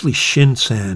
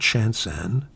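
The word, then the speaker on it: Shinkai: Shin-kai It's Shin-kai, not Shan-kai.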